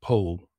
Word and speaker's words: Powell: a man called Anthony, well, it's spelled Powell, but with a certain affectation, is known as Anthony Powell.